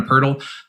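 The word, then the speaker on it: Pöltl: about as well and jak and purdle or or jacob puddle if you want to go with uh some people's unclassy pronunciations out there uh i feel like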